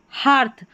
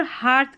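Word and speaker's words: hearth: अब ये इ ए आर टी एच जुड़ गया। यहां पर हार्थ। अब यहां पर हार्थ करके है। ठीक है? इ ए का साउंड आ करके आ रहा है। तो ये एक्सेप्शन में याद रख लें।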